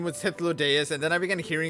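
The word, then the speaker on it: Hythlodaeus: then greetings i am hitholydes okay so i was right with the pronunciation the first time around it is histlo deus the first time i actually began saying his name was hitlodeus and then i began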